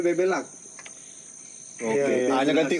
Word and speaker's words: Bebeluck: lak bbela ck nah di generasi terakhir ini genti lagi BBuk tapi tetap bacanya bebelak oke anya-ya ganti U